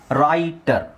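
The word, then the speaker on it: writer: stronger stronger stronger stronger ರೈಟರ್ ಸೊ ಡಬ್ಲ್ಯೂ ಆರ್ ಡಬ್ಲ್ಯೂ ಆರ್ ನಾನು ನಿಮಗೆ ಡಯಾಗ್ರಾಫ್ okay so ಡಬ್ಲ್ಯೂ ಇಲ್ಲಿ silent ಆಗುತ್ತೆ ಒಂದು ಅಥವಾ ಡಬ್ಲ್ಯೂ ಆರ್ ದು ಡಯಾಗ್ರಾಫ್ ಬಂದಾಗ ಒಂದೇ ಸೌಂಡ್ ಬರುತ್ತೆ ಅದನ್ನ ರೈ ಅಂತ ಹೇಳ್ಬೇಕು ರೈಟರ್ ರೈಟರ್ ಓಕೆ ಸೊ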